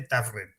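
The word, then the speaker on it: Tavren: por nada, sino porque si no tú ves Tabren con V y dices, ¿eso cómo se pronuncia? Pues se dice Tafren.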